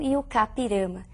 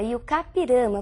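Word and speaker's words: I-Juca-Pirama: é o conhecidíssimo texto e o capirama e a pronúncia realmente é essa e o capirama porque é um termo de origem indígena Nós escrevemos e Juca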